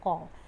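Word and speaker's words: ق: Ka at this position, and a bit behind it is qaf. Okay, ka, qa. Most of them get confused with this qa. Okay, qaf is not from the throat. Yes, but many people do confuse it.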